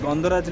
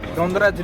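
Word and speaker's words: Gondhoraj: There is a lemon called Gondaraj lemon. Okay. That's Gondaraj lebu to be very precise. Right. That's how we pronounce in Bengal.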